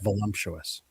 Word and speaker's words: voluptuous: Oh, sorry, I don't want to correct you, Seabear, but it's pronounced voluptuous. Oh, thank you. What did I say? You just said it wrong.